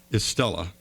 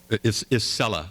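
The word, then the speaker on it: Isela: Now, I'd like to go ahead and start with Estella. Is Ella, excuse me. Let me say it right.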